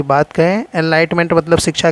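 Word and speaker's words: Enlightenment: यहाँ पर ये जो मसाल है एनलिगमेंट, ये मसाल जो है एनलाइटमेंट, आप एनलिगमेंट भी बोल सकते हैं, एनलाइटमेंट बोल रहे तो सही प्रोनाउंसिएशन होगा।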